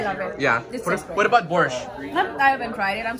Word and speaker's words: borscht: Borscht.